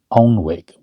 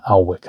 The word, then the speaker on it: Alnwick: an area called um Onwick but it's not pronounced onwick. It's Alwick I think is how it's pronounced and it's um 35 milesi from Newcastle and about 80 miles away from Edinburgh.